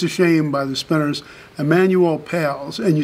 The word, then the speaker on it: Emanuel Pailes: Emanuel Pailes. And you spell that? E-M-A-N-U-E-L-P-A-I-L-E-S.